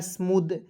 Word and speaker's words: smooth: यहाँ पे देखेंगे एस से आधा स, एम से म, डबल ओ जब भी रहता है आपको तो बड़ा ऊ की मात्रा का प्रयोग करते हैं, ठीक है।